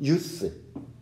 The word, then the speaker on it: use: 명사일 때와 동사일 때 발음이 달라져. 우리나라 사람들은 다 유즈로 발음을 하는데 동사일 때만 유즈로 발음을 하는 거야. 명사일 땐 유스로 발음을 한다고.